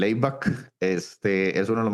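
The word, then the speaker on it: ABAC: O se escribe A, B A C. El abback.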